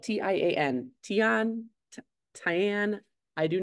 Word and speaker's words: tian: I made a tomato eggplant and zucchini um it's spelled TI a an tion Tian I do not know it says that it